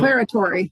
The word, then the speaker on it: declaratory: new one for me, declaratory ruling. Declaratory. Yep. Declaratory, thank you. Declaratory. I always emphasize the wrong syllable.